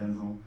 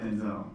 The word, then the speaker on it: Denzel: It's Denzel, it's not Denzel. It's like Denzel. That's what he's saying.